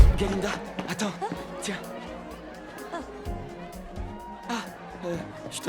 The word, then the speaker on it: Galinda: Miss Glinda. Oh, en réalité c'est Galinda avec un gars.